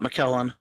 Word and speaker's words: McKellen: He had a 108 broad, and I'm talking about McKellen. That's how you pronounce it, because the Packers took it.